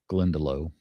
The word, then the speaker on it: Glendalough: Um I had to look up how to pronounce Glendalough. Glendalough.